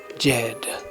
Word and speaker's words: Djed: illuminated original kedian word Jed DJ e d pronounced Jed an ultraterrestrial illuminated original